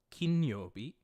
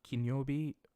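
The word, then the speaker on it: 金曜日: Yogi sui yobi mokuyobi kinyobi this is um I've typed out this it's kin and then you'll be all right not kinobi like this but kin yobi do you Obi and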